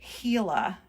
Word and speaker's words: Gila: have three of these hila monsters here it's spelled with a G but it's actually pronounced with an h e so hila monsters there we go